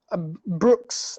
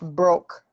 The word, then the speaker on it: Brooks: I remember once pronouncing Brooks. I pronounced broke, and she was really upset. She was like, "No, that's not broke.